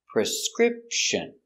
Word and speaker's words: prescription: prescripture prescription prescription prescription the stress is on the second syllable script prescription prescription prescription let's practice